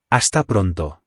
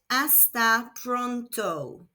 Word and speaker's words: hasta pronto: Hasta pronto. Again, the H is silent, so this is pronounced hasta pronto.